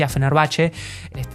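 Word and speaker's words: Fenerbahçe: video we presented the stadium of fenerbache or fener bace no that they had corrected me that it is pronounced fenerbache stadium east of the Great team from Turkey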